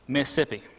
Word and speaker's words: Mississippi: He also was a full-time preacher at a church out in Mississippi. It has 2 syllables, not more than that.